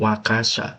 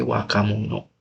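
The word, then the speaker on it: 若者: Tapi kalau sama waka ini bukan wakasya bacanya itu gua hapus dulu wakun bacanya itu wakamun barang muda gitu wakamunu jadi anak muda itu sebutannya bukan wakaimunu eh bukan wakasya tapi wakamunu kesannya kayak barang ya.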